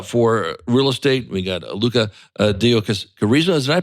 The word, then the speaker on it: Lucca Deocariza: We got Luca Deio Karisa. Did I pronounce that correctly? Yes. Luca Deokarisa.